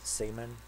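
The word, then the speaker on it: Simen: newt manga and simon they pronounce it semen which is unfortunate for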